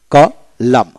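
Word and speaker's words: column: তারপর আসেন কলাম, COLUM, কলাম এনের উচ্চারণ হবে না।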